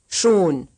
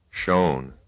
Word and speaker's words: schon: Here's another syllable pronounced right and then wrong. schon, Shown.